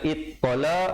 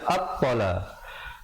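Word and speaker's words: الطَّلَاقُ: Jangan baca ittala ataupun uttala, tapi baca attala.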